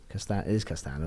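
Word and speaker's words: Castaño: Castano, that's how you pronounce it.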